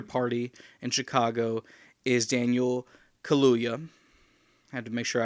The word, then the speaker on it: Kaluuya: the black panther party in chicago is daniel kaluya i had to make sure i pronounced that correctly daniel kaluuya who was the star of the film get